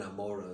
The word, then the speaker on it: Gomorrah: how the city of, as it's pronounced, Sodom and Gomorrah, right, or Sodom and Amorah is the way we pronounce it.